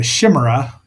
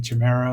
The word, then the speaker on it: chimera: So, is the monster is called the Shimmerra in by the d by the dub, which I'm sure they meant to say chim. We're saying Chimera or Chimera, depending on how you say it or want to hear it, but Shimmerra, no.